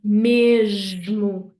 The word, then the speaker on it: mesmo: So here we want to do the j sound, mesmo, mesmo.